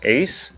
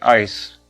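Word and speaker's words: Eis: SS2 itu jadi says itu tulisannya eyes tapi dibacanya bukan eyes tapi Ice atau misalnya nomor satu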